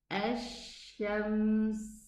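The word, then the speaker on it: الشمس: I am using my lips so that I can support the pronunciation of the sheen, but the sound is not correct at all.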